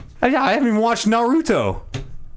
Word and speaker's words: Naruto: yeah I haven't watched Naruto and I just say it like I'm Japanese I guess I don't know put the emphasis on the middle syllable and I know these